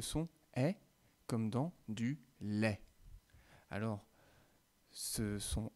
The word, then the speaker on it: lait: faire la distinction et il m'arrive souvent de dire du lait plutôt que du lait donc on va essayer de faire bien attention à le prononcer comme et comme dans flèche alors et comme dans